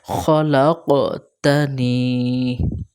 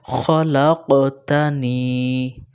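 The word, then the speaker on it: خَلَقْتَنِي: ইলাহা ইল্লা আনতা খলাকতানি এখানে খ একটা লাক কফ একটু কলকলা হবে খলাকতানি খলাকানি মনে রাখবেন উচ্চারণটা খলাকতানি ওয়া আনা আবদুকা খলাকতানি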